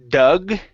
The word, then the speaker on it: Doug: word the name Doug instead of do dog it's uh Doug Doug okay very good the same a Doug yeah it's like a like a past tense Doug but this is the the short for the name Douglas uh the same as a animal dog no that's dog this is duh Doug this is thew sound dog is an a Doug is an uh Doug Doug Doug